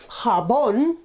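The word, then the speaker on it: jabón: sound so for example hot habon is soap carbon hota ha sound ha Bon Ka is same as the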